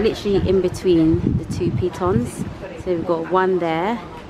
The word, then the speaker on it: Pitons: Pitons. Pitons. Pitons. The peas. The peas and the tons, which is these two mountains.